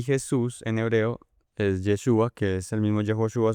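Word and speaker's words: ישוע: Eh, Josué en hebreo es, o se dice, se escribe Yehoshua, que significa Jehová salva. Y Jesús en hebreo es Yeshua, que es el mismo Yehoshua, solo que lo abrevian un poco, que traduce también Jehová salva.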